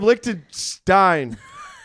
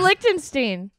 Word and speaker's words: Lichtenstein: Sam Lichtenstein. Sam Lichtenstein. Stein? We don't know. Fuck. Actually, that's the first thing I ask him. Stein is the old Jewish pronunciation.